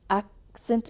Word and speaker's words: accent: In the noun accent itself, the stress falls on the first syllable.